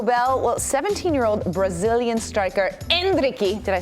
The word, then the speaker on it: Endrick: presented by Taco Bell well 17-year-old Brazilian Striker andriy did I say it right you got it